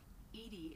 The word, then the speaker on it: EDI: are you named edie edie is the phonetic pronunciation of edi that is an acronym for enhanced defense intelligence well thanks for making